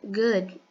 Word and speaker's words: good: Quando a gente vai pronunciar good, a gente pronuncia com o som do U. Os dois O basicamente vai ter o som de U. Então a gente vai falar good morning, good afternoon, ok? O D, ele também vai ter a pronunciazinha um pouco mais leve, tá? Quase impronunciável.